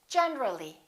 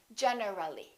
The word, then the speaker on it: generally: accidentally one more general when we add the li we say generally generally not generally let's look at a